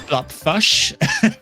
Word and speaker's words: blopfush: They are blopfush with a U. Not fish, blopfush. So we're not pronouncing it wrong.